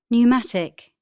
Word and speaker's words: pneumatic: The letters below in bold are silent in the examples. P, psychic, psychiatry, pneumatic, receipt, pseudonym, psychology.